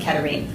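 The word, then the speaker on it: Katharine: Also, I pronounce it Katarine.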